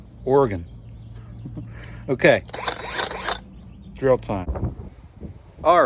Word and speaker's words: Oregon: Not pronounced Oregon. I was corrected on that. Oregon.